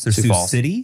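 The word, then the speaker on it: Sioux City: x i yes Sue it's just s Falls Su City Su City yes and when I tell you that I ignored the pronunciation in my head when I read your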